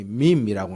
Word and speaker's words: meme: 요즘 들어서 이 특별히 인터넷 시대에 유행하는 단어가 영어로는 MEME에서 발음이 meme이라고 하는데요.